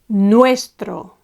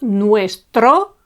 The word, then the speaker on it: nuestro: the penultimate syllable, and the word goes nuestro. Nuestro, not nuestro, it's nuestro.